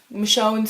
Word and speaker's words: Michonne: what was going to happen with andrea and michonne yeah that's how you pronounce it michonne so when i when i opened with the